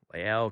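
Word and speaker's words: La'el: a weird last name is it ladal adele collins adele liddell it's leo lael collins um yeah so l a apostrophe some some something it's different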